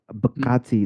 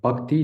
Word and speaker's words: Bhakti: So let me help you pronunciate pronunciate it correctly. You tried uh which is really good. It's it's bi. It's called bakti devotion right.